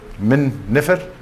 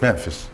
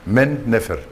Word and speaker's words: Men Nefer: Memphis is Min Nefer, and the Greeks pronounce it Memphis. Men Nefer, the harmony of men, and that's the god of fertility, you know, the phallus.